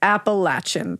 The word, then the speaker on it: Appalachian: six in this, I am a sixth generation Appalachian or Appalachin. I say it wrong. Okay. Appalachin mountain woman. I can confirm. You just told me how it's pronounced. It's pronounced Appalachin.